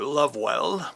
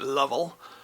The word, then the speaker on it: Lovewell: named john lovell or lovewell but i believe he pronounced it level um he formed a